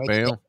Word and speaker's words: Bello: Yeah, I think it's Bayo is how you pronounce it, like Scott Bayo.